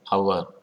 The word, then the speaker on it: hour: H is silent, so an hour is correct.